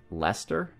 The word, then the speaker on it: Leicester: And this is her city of Leicester. Or I guess, if you want to pronounce it the British way, like Leicester, maybe?